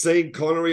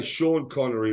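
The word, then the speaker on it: Sean Connery: pronounce that right because some people read it as seen connory I say Shan connory right I think that's correct pronunciation yeah but I gotta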